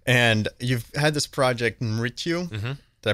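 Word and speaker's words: Mrityu: And you've had this project, Mritu. Mm-hmm. Did I pronounce that right? Yep, Mritu.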